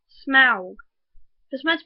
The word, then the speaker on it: Smaug: In the book, it is written S-M-A-U-G, which, when you read it, sounds like it should be pronounced Smaug, not Smaug.